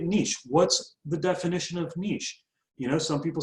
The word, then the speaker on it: niche: Okay, moving on to the second step is niche, so, or niche, however you want to pronounce it. I pronounce it niche in this country.